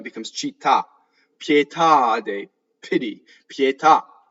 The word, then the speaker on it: pietà: cheetah pietà de pity pietà right so you have the truncated ah at the end so the the accent is on the last syllable ultimate accent right so these words